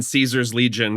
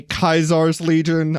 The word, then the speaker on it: Caesar's Legion: For the listener, DC looks like he's in Caesar's Legion from Fallout. Excuse me, Kaisar's Legion, I'll have you know. Is that how it's pronounced?